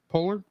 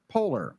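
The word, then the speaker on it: Poehler: personal personalized emotions um Amy how do you pronounce her last name Polar Polar yeah po Amy polar will prize her um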